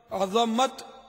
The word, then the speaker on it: عظمت: عزت, عزت و عظمت, تو یہ صحیح تلفظ عظمت ہے. عظمت تو وہ ہڈیوں سے, اس کا ہڈی عظمت. یہ اگر ذا کو ہم ساکن پڑھیں نا عظمت, تو یہ اس کے معنی ہڈی کے ہوتے ہیں.